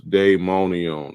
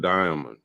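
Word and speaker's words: daimonion: i m o n i o n s dayon on that's not Diamond okay Paul try to pronounce it Diamond all right so he went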